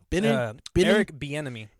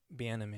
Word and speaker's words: Bieniemy: do you say it be enemy beat be enemy like an enemy be an enemy that's tight be enemy that's actually pretty cool